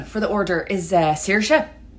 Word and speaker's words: Saoirse: The name for the order is Saoirse, like inertia.